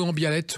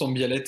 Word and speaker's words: Ambialet: D'Ambialet ou Ambialette, on dit les deux, hein. Les deux se prononcent, Ambialette et la prononciation plutôt occitane. Ah ben on va dire Ambialette pour faire plaisir à nos amis du Sud.